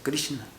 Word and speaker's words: Krishna: Es que cuando tiene un puntito abajo de la R, quiere decir que es Kri, y si es un puntito abajo de la S, es SH, entonces se pronuncia Krishna.